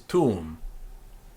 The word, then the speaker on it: tuum: So what we have is tuum. Sanctificetur nomen tuum, and not tuum. Also, we don't break the two U's into two separate. It's not two syllables. It's just tuum, like that.